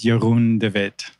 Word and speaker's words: Jeroen De Wit: And so, how you say my name is Jeroen De Wit.